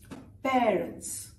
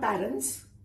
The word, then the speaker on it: parents: Parents. Not parents.